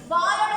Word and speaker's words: balle: Ballோட spelling Frenchல வந்து B-A-L-L-E balle அப்படினுவாங்க. Right? But they will pronounce it as only ball.